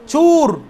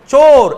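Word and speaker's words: چور: এরপরে চুর, এটা চুর, ওয়াও এরকম নাই, চোর এভাবে উর্দুতে চোর, ওয়াওটা ওই ভিতরে উচ্চারণ দিয়ে আছে চোর, এটা চুর এভাবে না, ঠিক আছে?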